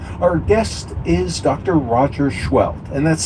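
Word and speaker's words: Scheult: Roger Schwelt, and that's spelled S-E-H-E-U-L-T.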